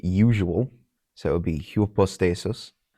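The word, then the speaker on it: ὑπόστασις: So it would be hupostasis. Some do pronounce it like the Y and hyper. So they would pronounce that hyperstasis.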